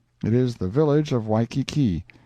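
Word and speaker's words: Waikiki: is the village of weiki usually pronounced whyi Kai once the capital of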